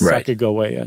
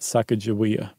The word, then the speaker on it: Sacagawea: And they think that it was a hard G, so that it's Sacagawea, not Sacagawea. So they said it's definitely GIF and not GIF.